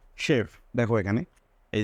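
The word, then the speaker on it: chef: যদি ওয়ার্ড কিছু আছে সেগুলোতে সি এর পরে এইচ থাকলে স এর মত হয় যেমন শেফ দেখো এখানে এই যে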